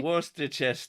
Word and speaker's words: Worcestershire: Worcestershire. Perfect. Exactly, that's how it's pronounced.